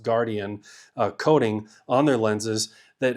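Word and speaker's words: Guardion: It's spelled guard-ion, but it's pronounced Guardian coating on their lenses that helps reduce glare.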